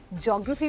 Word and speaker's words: geography: और अगर मैं कहूँ ज्योग्राफी भी होता है, जियोग्राफी भी होता है, तो जा सिमरन, जी ले अपनी जिंदगी।